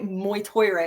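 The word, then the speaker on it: Mag Tuired: But I'm pretty sure that's how you say Moytoira. It's actually spelled mag-tired, but it's Moytoira.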